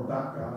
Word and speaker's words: Baca: Even when they pass through the valley of weeping, as they go through the valley of Baca, or Baca as it's pronounced in the Hebrew, they make it a place of springs.